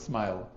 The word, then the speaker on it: SMYHL: So it pronounces smile but actually it's an acronym.